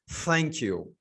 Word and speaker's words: thank you: is thank you so the pronunciation is unvoiced th thank you okay thank you thank you thank you okay th is unvoiced it's not true yeah we can't say thank you it is thank you okay so thank